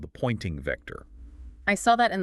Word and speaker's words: Poynting: The critics pointed to something called the pointing vector. I saw that in the source material. It sounds like a pointing finger, but it's spelled Poynting.